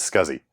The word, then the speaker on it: SCSI: early 1980s and yes the proper pronunciation is scuzzy scuzi was derived from